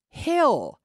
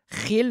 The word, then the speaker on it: hill: The double L in English is pronounced just like a normal L. Hill. Not he. But hill, okay, hill, hill.